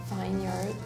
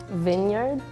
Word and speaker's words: vineyard: okay oh Vineyard Vineyard we say Vineyard typically if you have an e in the middle like that sometimes we don't really say it you just kind of drop it but you can pick